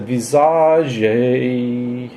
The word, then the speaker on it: Visage: one song that's that they pronounce it Visage I've always just said massage I don't know so it's it's it's like a French pronunciation and you're you're drinking